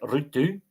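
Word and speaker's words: Ruutu: So Rutu Plus, which is one of the that is actually how you say it, Rutu, Nelonen, and Jim.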